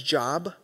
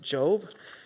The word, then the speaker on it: Job: It's written the same way as Job, but we pronounce it Job.